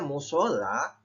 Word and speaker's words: musala: Meskipun pengucapannya musola, namun penulisan yang benar menurut KBBI adalah musala.